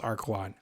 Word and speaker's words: Archelon: the archelon archelon archelon i think it's pronounced archwan i'm gonna go with